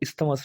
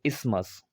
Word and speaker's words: isthmus: पर इसको इस्थमस नहीं पढ़ेंगे, आई एम सॉरी, इसको पढ़ेंगे इस्मस। इस्मस, यहाँ पर TH है जो, वो साइलेंट ही पढ़ा जाएगा।